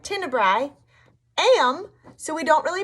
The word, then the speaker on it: tenebrae: That's what it sounds like, tenebrae. Am, so we don't really pronounce that E.